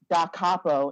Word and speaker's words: da capo: So in sheet music, da capo in Italian means to the head. So you pronounce it as da capo.